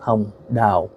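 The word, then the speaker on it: Hồng Đào: space d a o and in Vietnamese that's pronounced H da uh I remember growing up watching her um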